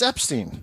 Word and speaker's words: Epstein: right now yes theo epstein i know that's been recent for you i've noticed that it's epstein epstein that's correct not epstein right and like and